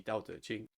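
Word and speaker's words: 道德經: The true pronunciation should be Dao De Jing.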